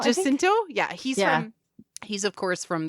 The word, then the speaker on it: Jacinto: I can't pronounce his last name. Jacinto. Jacinto. Jacinto.